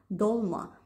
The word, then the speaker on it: долма: И с того момента они принесли с собой свое произношение слова «толма», «долма».